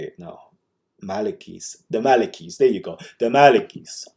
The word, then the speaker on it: Maliki: how do you say it no malikis the malikis there you go the malikis those are the